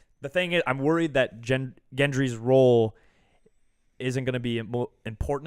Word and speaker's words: Gendry: I think gendry's role gendry's again role so is a soft G yeah who is a